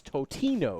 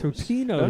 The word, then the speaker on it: Totino's: if you're gonna say it, you got to say it at least right. It's Totino's. Tostino's No, we're Pizza gonna Rolls.